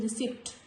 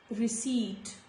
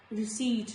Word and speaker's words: receipt: Before T also, letter P is silent, like receipt. I have often heard many people saying receipt, receipt, give me the receipt. No, this is not receipt, this is receipt, receipt.